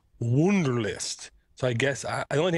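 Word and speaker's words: Wunderlist: on Android app adct it's called wonderlist but it's spelled w u n d r l i s t wonderlist so I guess the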